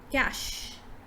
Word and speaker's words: cache: something like this but in fact it is cache so you just say cash cash cash right now the next